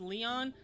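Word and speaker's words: Lyon: So, Lion, who is one of... They say it's pronounced Leon.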